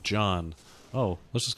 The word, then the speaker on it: Jaune: to pronounce the name yeah it's john do i live in an alternate reality where john is mispronounced down look at